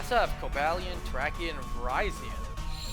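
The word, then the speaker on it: Virizion: have cobalian turkey and verizon not verizian stupid people verizon if you actually watch the film they pronounce it verizon like verizon or phone company it's not arceus it's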